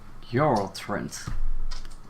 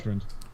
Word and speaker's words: Yoltrund: Yoltrund. Yep, Oh, okay. Yoltrund. Pronounce exactly how it's spelled.